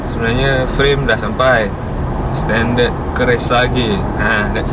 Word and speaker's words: Kreissäge: Standard Keresage. Ha, that's how you pronounce it.